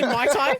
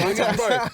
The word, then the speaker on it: Muay Thai: And you're like, did you say Mai Tai? Oh, Muay Thai or whatever. How do you pronounce it? Muay Thai. Muay Thai? Yeah, Muay Thai.